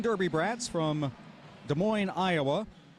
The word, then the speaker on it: Des Moines: from Columbia South Carolina Des Moines Derby brats from Des Moines Iowa the final s is silent as I were as